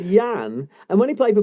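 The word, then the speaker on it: Jan: And he wasn't called Jurgen. He was called Yan.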